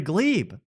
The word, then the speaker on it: Gleeb: He's a Gleeb. Absolutely. He's gleing it up. That was the easiest robbery I've ever done. rhymes with dweeb.